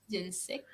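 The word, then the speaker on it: Dian Cécht: Et moi, je le dis Diane Sek.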